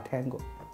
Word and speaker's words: Tango: 同的发音， T 就发 Tango， A 是发 Alpha， B 是发 Bravo。